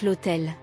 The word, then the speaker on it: l'hôtel: astérisque astérisque astérisque explication bien que hôtel commence par H qui est une consonne l'article utilisé est l et l'idé en raison de la prononciation du H comme une voyelle on dit donc l'hôtel La Porte partager tes